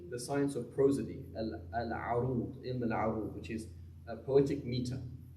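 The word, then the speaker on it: العروض: I.e., if you know how to pronounce the word, it's ilm al-arud, not ilm al-urud, it's going to be much easier, right?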